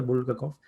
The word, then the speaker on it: Bulgakov: Maestro y Margarita de Bulgakov, creo que se pronuncia Bulgakov.